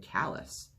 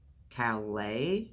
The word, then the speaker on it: Calais: I'm kalis she said but she said callous Calais said Calais kallus squinted huh you